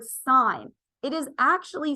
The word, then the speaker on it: sine: actually understand the material s-i-n is an abbreviation for the word sign it is actually spelled